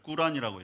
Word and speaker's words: 꾸란: 이슬람 사람들 그걸 꾸란이라고 이렇게 발음을 하는데요.